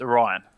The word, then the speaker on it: Orion: jump back in is oron it's not oron it's Orion oh no we've been saying his name wrong this entire time I've actually already